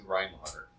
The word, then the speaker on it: Reinhardt: So rhyme and then heart, like the heart.